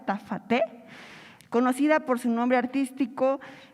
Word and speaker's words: Jta Fatee: Ella es, se pronuncia Tafate, conocida por su nombre artístico.